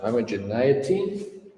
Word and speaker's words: homogeneity: So testing the homogeneity, it's not such an easy word to pronounce. We can say homogeneous or homogeneous. So homogeneity, that's how I pronounce it, implies checking the units